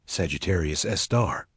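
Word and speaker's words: Sagittarius A*: The Milky Way's central black hole called Sagittarius Asterisk pronounced Sagittarius Sar weighs about 4 million times the mass of our sun.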